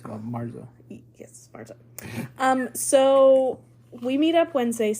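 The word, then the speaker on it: marzo: of 2022 it's not Oro that's Thea it's Marza yes Marza um so we meet up Wednesday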